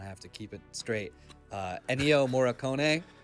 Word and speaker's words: Ennio Morricone: Ennio Morricone, was that correct? Yeah, that's very good. Yes, Ennio Morricone.